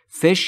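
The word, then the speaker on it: fish: انواع از فش ماهی در مورد تلفظ فش دقت بکنید بین ا و ف فش یعنی ماهی من بیشتر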